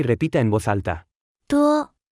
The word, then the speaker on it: 多: 多多多多多多多 Se pronuncia con el primer tono.